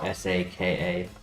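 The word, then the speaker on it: Sokka: I can see how S A K A would make sense because it's it's pronounced Saka like sock.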